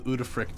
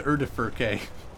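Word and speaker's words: Udyrfrykte: I'll summon the Udafrict on all your asses. Isn't it the... Wait. Is it... Yeah, it's the Udafrict. Yeah. I used to call it the Urdafurke, which is totally not the right pronunciation.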